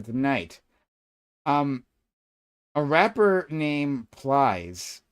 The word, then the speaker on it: Plies: A rapper named Plies. Please? How did you pronounce it? Plies.